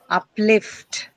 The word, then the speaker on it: uplift: Now prefixes usually do not bring about much of a change to your stress pattern. Right? So uh the stress is going to be retained on lift itself. So uplift right it's going to be on the second syllable itself.